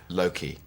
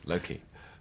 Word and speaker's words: Loki: How are you pronouncing your character's name? Loki.